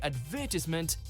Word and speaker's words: advertisement: little jarring to hear advertisement if someone says it differently. problems arise in the middle syllable, with some saying tis and others saying ties, as well as putting the stress in different places.